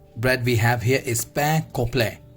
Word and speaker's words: pain complet: You can see now here is a bread we have here is pain complet. It's not pain complet, it's pain complet, means whole grain loaf, means brown bread.